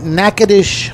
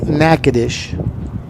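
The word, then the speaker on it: Natchitoches: Northwestern State in Nacadish, Louisiana. And if you don't know how to spell nacadish, don't try because you probably won't be close.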